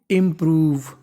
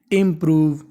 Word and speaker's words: improve: उच्चारण करना होता है आखिर में अगर इ लिखा है तो हमें ई का उच्चारण नहीं करना तो मीनिंग बन गई इंप्रूव द आप इसे चाहे